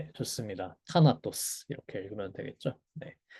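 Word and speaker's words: θάνατος: 타나토스 이렇게 읽으면 되겠죠?네 그래서 여기가 테다죠. 방금 말씀드린 숨소리 들어가는 트입니다. 그래서 티귿 발음으로 하면 되고 타나토스 이렇게 했습니다.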